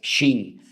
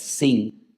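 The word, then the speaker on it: שׁ: la letra shin, pero que tiene doble pronunciación, porque si arriba te encuentras un punto a la derecha es shin, y si te encuentras arriba un punto a la izquierda es sin, pues ahí encontramos a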